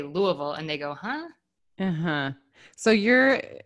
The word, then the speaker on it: Louisville: a little self-conscious but when i wish to be understood by those who do not live in the region i usually pronounce it louisville and nobody bats and i where i say louisville and they go so